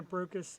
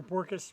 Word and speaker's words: Borkus: Elena Brokus and her, or Borkus rather, I always say it wrong.